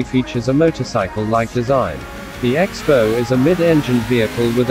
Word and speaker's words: X-BOW: Its name is pronounced Crossbow, inspired by the weapon of the same name.